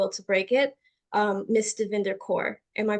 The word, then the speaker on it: Davinder Kaur: and the will to break it um Miss dinder core am I pronouncing that correctly you did you pronounce it